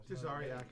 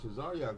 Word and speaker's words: Tazaryach: Tisarak, I believe. That's not a name. Nobody walks around and say, they say, "Hey, what's your name?" Black Jewish, something like that. No, Tazarak would be better.